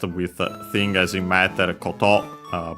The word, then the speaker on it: koto: Contrast with thing, as in matter, koto. Both accent on the last syllable, plus more.